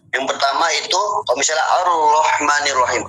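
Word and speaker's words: الرحمن الرحيم: Rahmah berarti ada roh mati kemudian ada ro keduanya itu huruf yang berharakat fatha. Jadi dengan supaya hurufnya tidak terlalu banyak maka dibuatlah tanda tasdid tadi. Sehingga cara bacanya harus ditekan sedikit.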